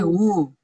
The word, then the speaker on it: who: When, when, who, eh who, why. Who, dibacanya who, oh. H-U. Who.